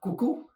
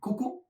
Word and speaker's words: coucou: Coucou, please repeat after me. Coucou and then salut.